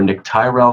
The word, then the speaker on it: Tyrrel: But technically, it's Nick Tyrrel, and it's spelled Tyrrel.